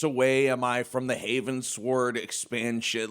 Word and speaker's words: Heavensward: Uh Heavensward like you know, I shot a rocket Heavensward. Oh, it's Heavensward. I thought it was Havensword.